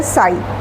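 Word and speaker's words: psi: d² स ये जो सिंबल है त्रिशूल जैसा इसको बोलते हैं स। psy पी साइलेंट है स हां। पी एस आई तो ये पी साइलेंट है। स बोला जाता है।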